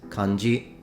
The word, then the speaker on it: kanji: accent once that is kanji now for the rest of the video I'm just going to say kanji because it sounds and flows better in English now